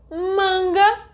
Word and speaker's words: manga: For example, manga is different from manga. Did you know that in the first word the stronger syllable is ma and in the second one is ga?